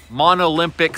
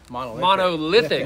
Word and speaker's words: monolithic: I've heard mispronounced uh one would be monolympic slab you ever heard someone what would be the real word there monolithic monolithic one and lithic yeah they